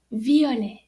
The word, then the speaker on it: violet: written in french and you notice the t is silent so violet so if you're describing